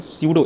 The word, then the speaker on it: pseudo: इसको अगर इंग्लिश में बोलेंगे तो क्या बोलेंगे, स्यूडो, स्पेलिंग पी से शुरू होती है लेकिन स्यूडो बोलते हैं इसको, ठीक है, स्यूडो, ई